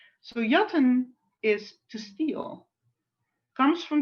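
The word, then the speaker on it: jatten: t e n and the j is pronounced ye yatan so yatan is to steal comes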